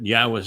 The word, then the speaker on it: Yahowah: and in fact the first person to know that Yahwa's name is pronounced Yahwa is the guy that's